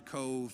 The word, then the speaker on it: Cobh: be Queenstown and then they changed it to Cove and you can find it's fine it's spelled Co ve Cobh it's just part of